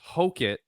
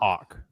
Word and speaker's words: Hokit: That last name, difficult, but to clarify for everybody, it's Hokit, the Incredible Hok, not exactly Hawk.